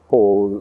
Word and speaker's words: Paul: it ron paul that paul like in paul revere is obviously the the way that that you would pronounce the word but in afrikaans it's like pole like uh like a pole vault so when pol means